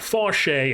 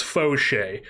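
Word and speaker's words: Faucher: It's Foch. It's not Fche, it's Foch.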